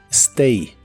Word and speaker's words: stay: de inglés es Stay la a de esta palabra se pronuncia como e Stay Stay y en el presente